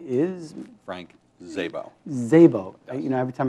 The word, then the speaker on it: Szabo: your name is Frank Zabo Zabo you know every time I look at it I think okay how do I spell that yeah ignore the S right so Frank um you're